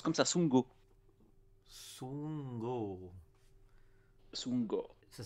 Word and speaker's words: Sundgau: et le sundgau j'ai dit quoi ça se prononce comme ça son go sous mango ça s'écrit sound go c'est ça